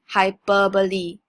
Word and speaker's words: hyperbole: personify things next okay this is pronounced as hyperbole I repeat hyperbole not hyperbole not hyperb okay so hyperbole is